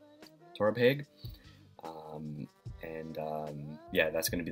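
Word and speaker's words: Torabhaig: so be it but I believe it's pronounced but Torah peg Torah peg and yeah that's gonna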